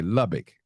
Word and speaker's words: Lubbock: it okay okay I love it Lubbock okay Lubbock okay that's correct pronunciation man I gotta do the research on